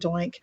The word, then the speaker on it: Doink: In fact, I thought it was pronounced Doink. For me, it was pronounced Doink. I've heard Do Ink, so I've heard it pronounced as Do Ink as well. She corrected me. She said it's Doink.